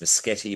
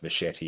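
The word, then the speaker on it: Muschietti: He has three different uh ways you can say his name. It's Meti, but he actually calls himself Machete.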